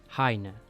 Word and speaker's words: Hyne: According to Reuben Langodn at the Tales of Anime convention held, Arkham's original name was going to be "Hyne" (pronounced "Hai-neh"). However Reuben thought it wouldn't work in English, so he convinced Capcom to change it.